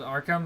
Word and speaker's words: Arkham: It's pronounced Arkham.